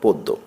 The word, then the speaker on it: পদ্য: উদ্যোগ জ ফল আর জ সাধারণত উচ্চারিত হয় না যে ব্যঞ্জন মনের সঙ্গে এটি যুক্ত থাকে তার উচ্চারণ দৃত্ত হয় যেমন পদ্য প দয় জ ফলা পদ্য কিন্তু পড়া হয় প দ পদ্য পূর্ণ পূর্ণ জন্য অরণ্য